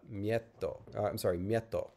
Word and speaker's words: mieto: And so this next word would be pronounced mieto. No geminate anymore, because the geminate's all degeminated, but it didn't voice. Geminates didn't voice intervocalically. So that's how you get like miedo and mieto.